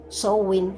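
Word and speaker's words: Samhain: comunidad pagana del mundo se pronuncia sowing a pesar de que se escribe es ángel y significa fin del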